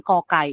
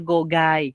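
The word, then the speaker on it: ก ไก่: Tapi kalau kita tulis romanisasi di Indonesia G, pasti kalian bacanya adalah gogai gitu. Padahal secara internasional bunyi pronounce-nya adalah ke. Makanya diterjemahkan, diromanisasikan di kita kokai, seperti itu.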